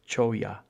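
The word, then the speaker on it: cholla: a jumping choya so the double L's pronounced like a y so it's choya jumping choya and uh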